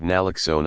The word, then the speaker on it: naloxone: expend prescriber training you increasing the use of naloxone I wanted to make sure I was pronouncing that right you so I talked to